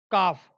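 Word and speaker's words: calf: बछड़ा, male child of काउ, काफ। L silent है क्योंकि मैंने आपको बताया था कि एल के बाद अगर एफ है तो एल साइलेंट है।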